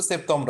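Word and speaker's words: septembre: লেখি বলি তাহলে হবে সেতম্র আসলে হচ্ছে ব্যাপারটা অতটা সেম লাস্টে আরটা ছেড়ে দিবে জাস্ট একবারে হালকা হয়ে যাবে আর তো আর উচ্চারণটা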